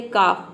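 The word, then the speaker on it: calf: है, यहाँ पे एल है लेकिन हम ल प्रोनाउंस नहीं कर रहे हैं। हाफ मतलब होता है आधा। उसी तरह से है काफ, काफ का मतलब होता है बछड़ा।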